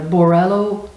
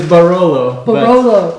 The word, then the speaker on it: Barolo: and it's the the borello wine right did i say that right no no it is barolo yes barolo wine uh it's red